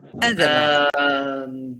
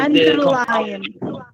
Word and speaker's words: underline: We have a rule in our course, I remember, that tell us that the compound verbs have the stress on the second syllable.